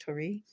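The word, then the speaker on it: torii: here with I think it's called Tori t T gate looks like Tor gate but maybe I think it's pronounced Tori um this is a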